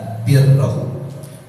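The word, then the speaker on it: بِرّ: Bikasril bacanya dengan mengkasrahkan ba birroh. Kalau birrun kebaikan barrun daratan, burrun gandum. Tuh bahasa Arab tuh hurufnya sama, harakatnya beda.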